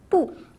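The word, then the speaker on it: 不: Quand il se situe avant le quatrième ton, il change de prononciation et se prononce ainsi pou au deuxième ton.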